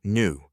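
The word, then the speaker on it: nu: 34 JW seconds, and new pronounced new is the frequency or how fast the light wave oscillates.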